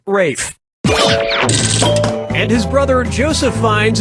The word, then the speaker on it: Ralph: Ralph yep RAF Fine's first name is spelled like Ralph but pronounced Rafe and his brother Joseph